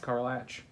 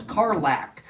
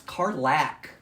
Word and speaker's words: Karlach: Carlatch. No, you're saying it like car latch, like a car has a latch. Yeah, that's how it's spelled. No, it's Karlach.